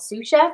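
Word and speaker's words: Sioux Chef: or his own business called sous chef but it's spelled s-i-o-u-x um and his ted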